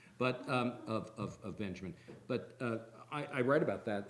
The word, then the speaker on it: Benjamin: like to say that the way to pronounce the author of the task of the translator is Walter Benjamin, as opposed to Walter Benjamin. And I like to emphasize the J is the kind of Americanization, but of Benjamin.